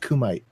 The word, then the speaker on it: Kumite: I mean, we were talking to Thrax in the Kumite, and it's pronounced Kumite.